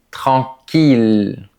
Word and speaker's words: tranquille: Mais il y a des exceptions pour lesquelles on devra dire il. Par exemple, dans les mots mille ville ou tranquille. Ce sont les plus importants.